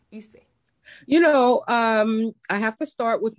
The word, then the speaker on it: Ysaye: My father's name was Irving, and I'm Ysaye or Ysaye. I think the traditional pronunciation is Ysaye, but I didn't know